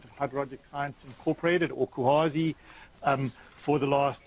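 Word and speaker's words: CUAHSI: So I said that CUHASI, so CUHASI, they say you should pronounce it CUHASI, and it's a non-profit consortium of about 130 U.S.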